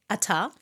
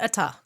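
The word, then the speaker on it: ʻAta: Eventually they found land, Ata. Now, it is a Polynesian word and it's spelt with an apostrophe, ATA. And I did some research on Polynesian linguistics. Yes. This is a glottal stop.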